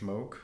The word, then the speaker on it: Moog: is it pronounced Moog? Yeah, Bob Moog.